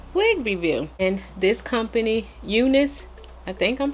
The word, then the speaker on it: Unice: means as another wig review and this company eunice i think i'm pronouncing it right was kind enough to send